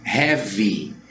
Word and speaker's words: heavy: E a palavra heavy, também aquele A ele não aparece, fica heavy, heavy, de pesado, ok?